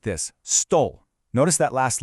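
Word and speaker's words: стол: We say it like this, stole.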